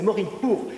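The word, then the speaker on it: morin khuur: Mais en fait, nous avons une transcription phonétique qui ne correspond absolument pas à la façon dont ils prononcent. C'est pour ça qu'heureusement qu'il y a l'interprète qui nous aide, c'est morinchour, c'est-à-dire la vielle cheval, principalement.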